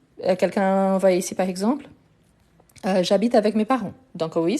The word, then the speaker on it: j'habite: Donc, ici, le verbe habiter, c'est un verbe qui commence par un H muet. Donc, on fait élision. Donc, j'habite.